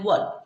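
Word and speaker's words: work: क्या पढ़ते है वर्क ना कि हम बो र क वर्क पढ़ के ठीक है तो इससे हम क्या पढ़ते है वर्क यहां पर जो ओ हमारा साइलेंट रहता है ठीक है तो इसे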